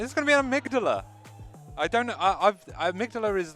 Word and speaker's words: amygdala: I originally was saying this is Amy G. Dalla. Amy G. Dalla? Yeah, Amy G. Dalla. That is quite a pronunciation you've got. That is an pronunciation. I've been saying amygdala.